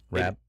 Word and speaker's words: Rabb: Rabb?